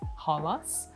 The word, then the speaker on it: Holos: little source of string holos is actually a Greek word it's supposed to be pronounced hos it's a word that